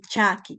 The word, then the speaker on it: chaki: Entonces, se pronuncia uniendo o aproximando el dorso de mi lengua a mi paladar. A mi paladar. Entonces tengo chaloa y chaki, por ejemplo, ¿no?